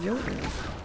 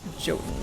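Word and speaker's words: jotun: J o t u n when in mythology that word is pronounced yoten. That's how I was I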